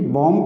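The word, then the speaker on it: bomb: और ये भी बॉम भी सिंगल सिलेबिक वर्ड है, बॉम, यहाँ पे भी साइलेंट है।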